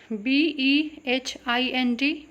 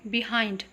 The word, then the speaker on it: behind: B-E-H-I-N-D, behind, ना कि behind.